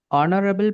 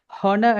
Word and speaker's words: honour: Okay, அதிமேதகு ஜனாதிபதி அதுக்கு தான் நம்ம ஆனரபிள் பிரசிடென்ட். இதுலயும் வந்து ஹெச் இந்த HONOUR இன்னைக்கு தானே இதுக்கு நம்ம ஆனர் தான் ஹானர் அந்த ஹெச் சவுண்ட் என்ன செய்ய மாட்டோம், நாம ப்ரொனவுன்ஸ் பண்ண மாட்டோம்.